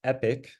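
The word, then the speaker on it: epoch: whenever we get there and then this word pronounced epic is a complete pass through the training data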